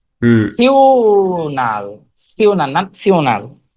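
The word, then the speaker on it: national: ইন্টারন্যাশনাল, এটা হচ্ছে নাসিওনাল, এন হ্যাঁ, আ, ন্যাশনাল। ন্যাশনাল, হ্যাঁ, ঠিক আছে। এন আ না হুম। সিওনাল, সিওনাল নাসিওনাল। ন্যাশনাল, হ্যাঁ। ন্যাশনাল না, উচ্চারণটা হবে হ্যাঁ ন্যাশনাল।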